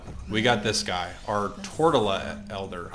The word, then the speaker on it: Tortola Elder: got this guy our tortella elder i don't know why i thought it was torture oh my god i've been saying it wrong this whole time i